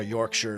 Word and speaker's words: Yorkshire: It's like how Yorkshire is Yorkshire. Not Yorkshire.